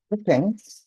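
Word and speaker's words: Pépin: 일단은 페팽, 불어로는 페팽이라고 하고 영어로는 페핀이라고 발음하고 당시 발음은 페핀이었나 봐요.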